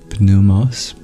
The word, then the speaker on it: pneumos: Greek also the word p numos nowadays the p is silent doubles as a word